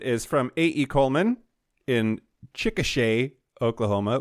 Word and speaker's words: Chickasha: Coleman in Chickasha, Oklahoma, which I know it's said it that way because he wrote Chickasha, pronounced Chickasha.